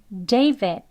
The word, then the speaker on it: David: 해서라고 해요이 뒤에 소리 하는 소리 아주 약하게 발음 해서요 두 번 해볼게요 David David 예 이렇게 드 소리를 넣어서 또 이름만